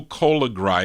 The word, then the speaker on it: Colagri: I asked my father how to pronounce that name. Sereno Colagri is how he said it on the Italian version, but he went by Del Sereno also.